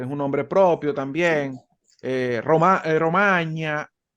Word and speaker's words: Romagna: un nombre propio también, Romagna, la R se relaja un poquito. Hay que relajarle un poquito la R porque si no, realmente no está siguiendo bien la pronunciación italiana.